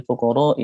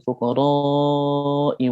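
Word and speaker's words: الفقراء: ayat innamas shadaqatu lil fuqara'i wal masakin. Di bagian lil fuqara itu dibaca pendek, harusnya dibaca panjang. Tapi orang tersebut membaca innamas shadaqatu lil fuqara'i wal masakin. Lil fuqara-nya dibaca pendek 2 harokat.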